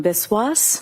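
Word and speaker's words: Biswas: My name is Biswis. My first name is spelled J H I L A M.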